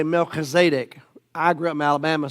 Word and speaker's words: Melchizedek: Then, in Hebrew, you'd say Melchizedek. I grew up in Alabama, so we say Melchizedek. Okay, so however you want to pronounce it.